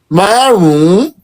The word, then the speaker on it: márùn-ún: No, you're just going to say it this way. Maroon.